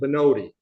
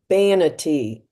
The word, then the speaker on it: Vanity: I always pronounce it Benod. Uh, Vanity, like Vanity.